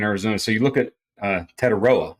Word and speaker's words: Tetairoa: So you look at Tetairoa, I think is how you say his first name, but McMillan, all of